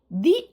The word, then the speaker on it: the: ഇവിടെ hearing ദി unexpected applause എന്നാണ് ടീച്ചർ വായിച്ചത്. എന്തുകൊണ്ടാണ്? ദി unexpected. അൺഎക്സ്പെക്റ്റഡ് എന്ന് പറയുമ്പോൾ അതിൻ്റെ ആദ്യത്തെ ശബ്ദം എന്താണ്? അ. Okay, it ഈസ് A vowel ശബ്ദം. സോ ദി.